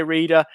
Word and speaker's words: Reda: We've got Jacob Davenport, Reda Kadra. I did say Reda. I need to say Reda because that's actually how you pronounce it.